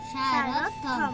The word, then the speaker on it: সারথ্যম: দেখো, জফলা আছে থর পাশে, তাহলে এখানে থ কয়টি হবে? দুইটি। থ কয়টি হবে? দুইটি। দুটি থ হয়ে যাবে। তাই আমরা প্রথমটি বলবো সা রথ, আরেকটা বলবো কি? থম। সারথম, সারথম। কি বলবো? সারথ্যম, তাহলে এটা উচ্চারণ কি হবে? সারথম। আবার বলো। সারথ্যম।